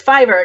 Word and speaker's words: Fiverr: I think it's Fiverr, because it's like a site where you go on there and you just say, "Here are the things I will do for $5."